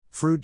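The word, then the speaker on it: Froude: add to the fun fruit is pronounced just the way keanu reeves says freud and bill and ted's excellent adventure someday i will read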